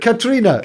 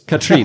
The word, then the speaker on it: Katrine: Katrina. Close. Katrine, not Katrina.